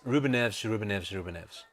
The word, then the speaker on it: Ruben Neves: 3 names: Ruben Neves. Excellent. That's 3 different people. That's how you say it properly in Portuguese.